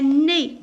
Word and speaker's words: nez: Un nez, voilà le nez, un nez. Alors EZ je la prononce quoi? Je la prononce E.